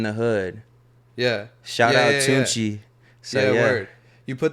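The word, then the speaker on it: Tunechi: yeah, It's yeah, pronounced yeah, the same way? Tunchi, yeah, Oh, it's word.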